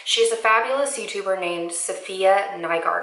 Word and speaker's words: Safiya Nygaard: But she's a fabulous YouTuber named Safiya Nygaard, I think is how you pronounce her name.